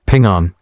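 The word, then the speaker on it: 平安: The word for apple in Chinese, ping, sounds like the word for peace, ping'an.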